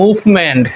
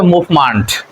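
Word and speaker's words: movement: আসলে উচ্চারণ হবে examination M ই এনটি মেন্ট থাকলে আমরা মেন্ট বলি কিন্তু এটার উচ্চারণ হবে মান্ট তাহলে আমরা এটাকে বলি মুভমেন্ট কিন্তু আসলে উচ্চারণ হবে মুভমেন্ট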